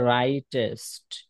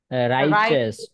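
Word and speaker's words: righteous: মানুষ এটা উচ্চারণ হচ্ছে রাইটেস্ট রাইচেস্ট রাইচেস রাইচেস উচ্চারণটা হবে রাইটেস্ট এখানে যদিওটি আছে তখন উচ্চারণটা হবে যদি টি আছে কিন্তু এখানে টি উচ্চারণ হবে না এখানে উচ্চারণ হবে রাইচেস রাইচেস রাইচেস রাইচেস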